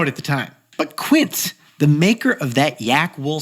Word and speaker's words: Quince: Now, the name of the brand is Quint, which is short for quintessential as opposed to kiniera, which Jack thought it was short for. I totally mispronounced it. I thought it was kins.